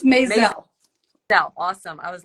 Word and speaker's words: Mazel: Sharon say your last name for me it's mayel awesome I was like oh I gotta make